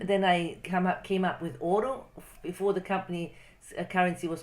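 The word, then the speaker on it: Ouro: So if you pronounce it, it's said quickly, it says oro. It sounds the same as oro.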